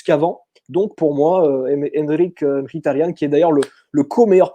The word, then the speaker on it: Mkhitaryan: Comment tu le prononces en arménien, son nom? Henrik Mkhitaryan.